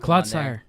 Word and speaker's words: Clodsire: Clodsire. Clodsire, yeah. Wait, is that how you pronounce it?